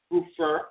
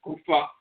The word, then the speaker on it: goofer: about the Hua doctor Goofer often they'll spell it Goofer like Goofer dust Goofer doctor Goofer doctor and so forth we pronounced it goofa doctor goo doctor the Healer